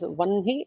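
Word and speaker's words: वह्नि: her and na it is supposed to be pronounced as onehi not what me uh just like brahma right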